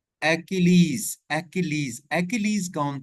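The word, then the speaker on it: Achilles: अब इसकी आप सबसे पहले प्रोनाउंसिएशन देखें, एक्किलीज।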